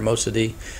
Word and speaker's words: Mossadegh: The Iranian Prime Minister Mohammad Mossadegh, as you can see this pronunciation there, Mossadegh, wants to nationalize all of Iran's oil fields.